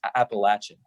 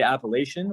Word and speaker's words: Appalachian: with people who go to the school it's pronounced appalachian appalachian okay people people say appalachian which like the mountain range is called the